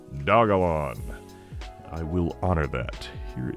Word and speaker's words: Dogelon: um of course it you might be tempted to pronounce it doge elon because of the portmanteau between doge and elon but the internet tells me that would be misguided that it is preferred to be pronounced dagolon i will honor that